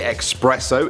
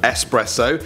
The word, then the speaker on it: espresso: People still say espresso instead of espresso, nuclear instead of nuclear.